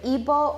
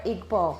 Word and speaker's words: Igbo: It's called either Igbo or Igbo. I think they're both correct.